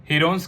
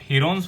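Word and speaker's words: Heron's: और इसके एरिया को हम प्रूव भी कर चुके हैं हीरोन्स फॉर्मूला की हेल्प से। हीरोन्स की एक्चुअल प्रोनाउंसिएशन है हिरन्स फॉर्मूला।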